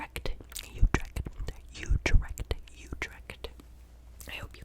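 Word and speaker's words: Utrecht: we've got a city in the Netherlands called utre utre it's spelled u d r e c h d so hopefully I'm saying it correctly shout out to my friends my friends my friends my besties in utra ut you direct you direct I hope you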